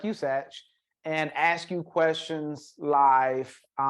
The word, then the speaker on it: Satch: So, Satch, you're one of the. Am I pronouncing your name right? Yeah. You got it, man. Satch.